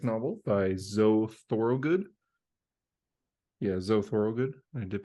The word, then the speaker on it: Thorogood: Yeah, Zoe Thorogood. I did pronounce that right.